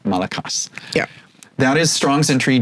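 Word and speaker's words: μαλακός: those that are wondering I I am doing what is is hypothesized to be a somewhat more correct pronunciation of the Greek of the time not malakos but malakas yeah that is strongs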